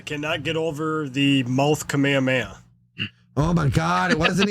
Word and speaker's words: Kamehameha: happy you said that technically I suppose this pronounced Kamehameha the way that he says it is like that is kameha yeah but but everyone says it kamehame I don't know why